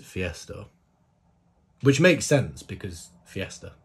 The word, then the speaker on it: Fiestar: um collaboration with Fiesta I think it is Fiesta isn't it that's how I pronounce it initially I wanted to pronounce it five star that's what I wanted to say but then I've looked at the the Hangul and it looks like it's Fiesta which makes sense because